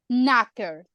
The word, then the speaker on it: knocker: start one more um knocker I'm pronouncing it right ah yeah yeah you are KN beginning with a K Ken like KN go